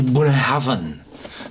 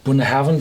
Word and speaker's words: Bunnahabhain: we have a well a weird spelling and pronounce whiskey it's the buah Haven bun Haven 12 years old uh